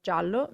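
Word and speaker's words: giallo: also in the meaning gallo means rooster whereas jallo means yellow so the way you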